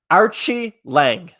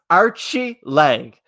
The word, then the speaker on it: Archie Lange: you have here so archie lange that's how you say his name i didn't know that and craig taught me so it's archie lag archie leg had a